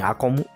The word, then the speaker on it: Acom: So yeah, this is actually, this is the it's it's pronounced in Japan akom, which is it's when you usually can read this on probably acom.